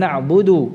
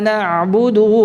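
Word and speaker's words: نعبد: Iya nah budeg padahal nabudu harusnya ya di sini harus selesai iyyaka na'budu wa iyyaka nasta'in bukan iyyaka nabudu wa iya nah ada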